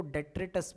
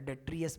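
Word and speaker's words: detritus: है, ध्यान से सुनना, उसको डेट्रिटस बोलते हैं या डेट्रियस बोलते हैं, दोनों का मतलब सेम है। डेट्रिटस भी स्पेलिंग राइट है, डेट्रियस भी सही है।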